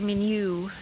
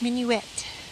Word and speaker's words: Minuette: They always say Minu cuz it's the French for for pussycat, but it's not Minu, is it? Come in. It's mini wet.